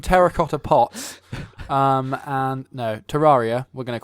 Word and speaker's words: Terraria: heard of it's a something that's pronounced differently by different people I like to pronounce a Terraria but Trot how do you like to pronounce a trot Terraria Terraria was you say Terraria yeah ter Terraria to